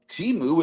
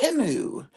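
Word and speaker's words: Temu: a commercial and they said it's not really pronounced teu it's pronounced timu and uh everyone was like the next morning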